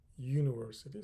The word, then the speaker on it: university: So, the pronunciation starts with Y, university. So, here I need to use A, not N.